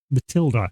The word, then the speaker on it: Mathilde: Apparently it still is pronounced Matilda, even though that spelling doesn't sound like that. That's Mathilde. But no, it's apparently still Matilda.